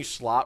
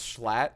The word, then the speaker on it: Schlatt: Am I saying Schlot wrong now? It's Schlatt.